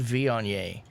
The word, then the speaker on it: Viognier: It's a varietal called Viognier.